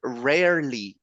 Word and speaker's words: rarely: And one of the words that is very difficult to pronounce, but try to divide it in two parts, is the word rarely, okay?